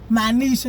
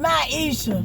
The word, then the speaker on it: Myiesha: Like, we be on the street and folks like be like, Myiesha. No, nigga, my name Myiesha.